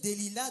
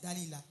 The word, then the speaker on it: Dalila: elle se nommait Dalila d'autres disent Delila d'autres disent Dalila moi c'est écrit ici Delila mais on peut dire Dalila je pense que c'est la prononciation normale c'est Dalila alors verset 5 les